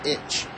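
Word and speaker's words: ichi: that's Rock to itch the number six is rock and the number one is pronounced itch one two and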